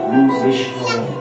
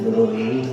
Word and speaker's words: গুরবে: এইখানে যে প্রশ্নটি আসে, আমরা বলি গুরুকে বলি গুরু ব্রহ্মা, গুরু বিষ্ণু, গুরুদেব মহেশ্বর, গুরু সাক্ষাৎ পরব্রহ্ম, তস্मै শ্রী গুরবে নমঃ। উচ্চারণটা কিন্তু গুরবে নমঃ, গুরুবে না, গুরুবে বলে ভুল হয়ে যাবে ব্যাকরণের।